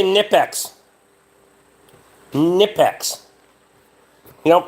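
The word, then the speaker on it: Knipex: Nipex. You don't pronounce the fucking K any different than you would with a knife, in my opinion, so. K is silent.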